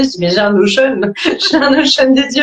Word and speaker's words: Notion: Donc Notion, c'est Notion en français, ça s'écrit comme le mot Notion, N-O-T-I-O-N, pour celles et ceux qui connaissent pas.